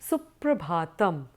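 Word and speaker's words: सुप्रभातम्: one would greet with suprabhatam so prabhatam is formed of four syllables you have su pra bha tam su means good prayer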